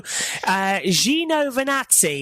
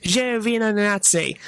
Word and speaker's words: Giovinazzi: So it's the Alfa Romeo, and Antonio Giovinazzi is apparently how you pronounce the name. Giovinazzi. We've been saying... I think he was taking the mickey. I hope so. It's Giovinazzi.